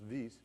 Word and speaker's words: Wyss: Hans Zurich v c Swiss so it's pronounced vs he came from from